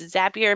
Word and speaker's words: Zapier: used zapier before it's I always say zapier or zapier but it's zapier makes you happier so it's in its